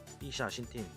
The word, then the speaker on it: ixaxhintin: X가 SH 발음이 납니다. SH 발음. 이샤신틴. 그렇죠? 이샤신틴인데 여기 지금 M이 지금 생략이 됐다고 보면 됩니다.